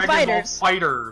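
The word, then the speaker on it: FighterZ: Like yeah, it's called Dragon Ball Fighters. I hate that so much. When I heard that was the way to pronounce it, I was so mad.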